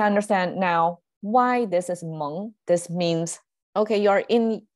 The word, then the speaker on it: 蒙: And contemporarily, it's pronounced as Meng. It's a third sound.